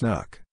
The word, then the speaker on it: NUC: unit of computing or nucline pronounced knuck that had so far